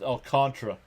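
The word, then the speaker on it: Alcantara: Alcantra, it's pronounced Alcantra, even though that's not how it's spelled. Darth One is here. What's up, Darth Star? Nothing new about our Mets. All right, here we go. Alcantra winds and deals the first pitch on the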